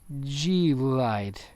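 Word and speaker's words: G-LIDE: pronounce that i i i only say glide but it's really g light what's that about that's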